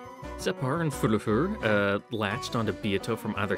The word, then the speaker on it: Furfur: Furfur. The pronunciation is odd. It's not fur. I know that. It's more like furf, and then the is the other syllable.